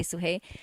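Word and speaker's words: Sudhey: So it's technically like suhei, but I've never pronounced the d. I always just say suhei.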